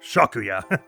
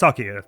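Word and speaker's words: Sakuya: Shakuya. No, it's Sakia, but...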